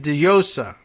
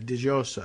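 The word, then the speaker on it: Djossa: Christina Ayele Diossa is my best guess at the pronunciation of D-J-O-S-S-A, Diossa. Or maybe we'll give a little Y sound to it.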